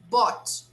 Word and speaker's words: bought: g and the age they are totally silent but yesterday i bought a new book yesterday i bought a new book it's bought the pronunciation is like